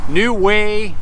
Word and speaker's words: Nu-Wa: It's a 1996 model, New Way, New Wa. Some people pronounce it New Wa, New Way.